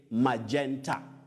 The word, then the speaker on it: magenta: a side magenta magenta no that g takes the sound like a j you say magenta magenta like you can talk